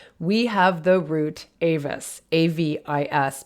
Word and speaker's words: avis: have the root avis a v i s pronounced avis in latin um avis which is